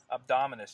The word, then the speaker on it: abdominis: the transverse abdominals how do you say that abdominis yes so I want to talk about that